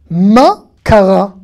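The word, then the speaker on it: מה קרה: Ma, kara. Ma, kara. Qu'est-ce qui s'est passé ? Ma, kara. Le he ne se prononce pas.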